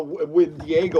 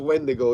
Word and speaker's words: Wendigo: thought it was a wind diago or something. I was pronouncing the name wrong, but it's Wendigo.